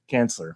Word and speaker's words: Cansler: Cansler, excuse me. I can always find a way to mispronounce the name.